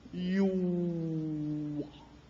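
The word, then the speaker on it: Yahweh: Ang pangalan ng Diyos daw, Yuwa. Yuwa. Yun daw original pronunciation, Yuwa.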